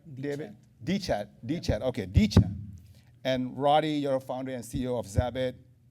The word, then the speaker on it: deCH.at: Is that how I pronounce it right, David? deCH.at, okay, deCH.at.